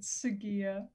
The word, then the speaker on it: Segia: sajia you were close said segia segia okay hard g sorry and i played